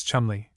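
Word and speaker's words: Cholmondeley: Ledger, for instance, is always pronounced as if written sillinger, commanderly as Chumley, Marjgery Banks as Marchbanks, and the illustrious name of Caendish was for centuries familiarly pronounced Cand.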